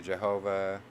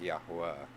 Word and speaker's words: Yahuwah: Some say Jehovah, some say Yahweh. I might do another video on why I pronounce it Yahuwah.